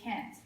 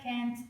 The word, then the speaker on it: can't: So when you say can't, make sure to emphasize on the tia in the end, okay? So try to repeat after me. This is can't. You see, at the end, I pronounce the T like more strongly. Can't, okay?